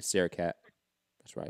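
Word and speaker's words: Srisaket: So say it's Sarah Cat. It's like Kit Kat, but Sarah Cat.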